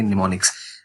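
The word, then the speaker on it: mnemonics: ये निमोनिक्स है, ये M साइलेंट होता है, शुरू में नहीं बोला जाता, तो N से आप इसको बोलेंगे निमोनिक्स। 0 और 1 यूज करती है और बाइनरी डिजिट्स को यूज करती है।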